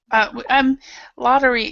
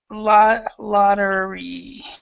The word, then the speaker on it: lottery: Lottery. Usually, a lot of times when you have two T's right here, it comes out like a D. So this is kind of the lottery.